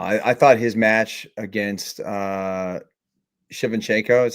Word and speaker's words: Shevchenko: I thought his match against Shevchenko is how you say his last name? Shevchenko, yeah.